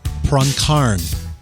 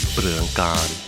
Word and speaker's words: Pruangkarn: And you said that's a decent Americanized pronunciation. Yes, I grew up in the U.S. and yeah, I've always used that. But when I came to Thailand, they finally said, "No, you're saying your name wrong. Your own name wrong. It's Pruangkarn."